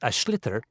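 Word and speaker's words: sliotar: basically you have to get this ball called ash litter that's SL IOT a or so it's not spells the way it's pronounced you his ears into the net for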